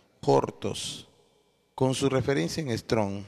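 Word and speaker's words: χόρτος: que es la hierba hierba en griego se pronuncia hortos con su referencia en str strong 5528 relacionada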